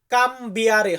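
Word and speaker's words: cambiare: বিয়ারে কাম বিয়ারে তো বাংলা উচ্চারণের ওইখানে একটু ভুল হয়ে গেছে ওটা কাম বিয়ারে হবে এরপর আছে অনুবাদ করা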